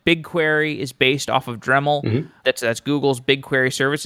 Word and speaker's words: Dremel: understand the lineage the dremel project originally came out of Google and that's like Dremel that's a phonetically similar to dreamy oh so I'm assuming